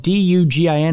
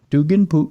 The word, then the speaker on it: Dugin: It doesn't sound like it, but it's spelled D-U-G-I-N, and it may be Dugin.